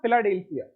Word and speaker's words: Philadelphia: This incident goes back to 1876 when at an exhibition in Philadelphia, हाँ फिलाडेल्फिया, सही pronunciation होगा, फिलाडेल्फिया यूएसए।